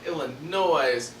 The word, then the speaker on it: Illinois: over in marionette Park Illinois a A's presents uh and I do realize that you don't pronounce the s in Illinois uh you just said